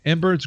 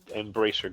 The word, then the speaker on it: Embracer: for $1.3 billion by Embers Group. Am I saying it right? Embracer Group. Embracer. Sorry.